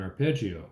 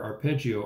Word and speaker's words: arpeggio: measure 1 with an arpeggio. An arpeggio is a series of notes played in order either up or down the keyboard. Imagine strumming strings on a harp, which rhymes with arp.